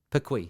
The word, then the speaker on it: Perquis: How do you pronounce that? Perquis? Perquis.